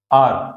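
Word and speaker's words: hour: आर, आर में H silent है।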